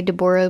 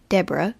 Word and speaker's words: Deborah: known appearance of deborah it's either deborah or deborah sorry but i always say deborah with the way that it's spelt um because i grew up with a girl whose name was spelled d-e-b-o-r-a-h and um her name was not debra it was deborah so sorry if i